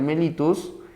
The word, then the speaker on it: mellitus: se le llama diabetes diabetes escribe mellitus no diabetes mellitus se pronuncia melitus la diabetes melitus no